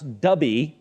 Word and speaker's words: Dubhe: So this star, which they tell me I'm supposed to pronounce Dubhe, D-U-H-B-E, I believe, or D-U-B-H-E, it's Arabic, folks, and I'm just not fluent, okay?